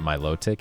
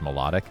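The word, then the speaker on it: Milotic: I guess it's not Miloic, it's melodic because that sounds like, you know, melody.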